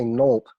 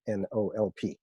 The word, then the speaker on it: NOLP: And when you hear me say NOLP, I'm not choking. That's just how I pronounce the acronym for the program, NOLP.